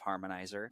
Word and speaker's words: Harmnizr: give my 30 second understanding of of harmonizer spelled h a r m n i ZR so if you look up harmonizer and try to spell it like it's spelled you won't find it and so harmonizer is